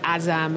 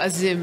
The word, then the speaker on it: Azam: Well, I was saying Babar Azam, like Azam, as it's spelled. And it's more Azim, I think.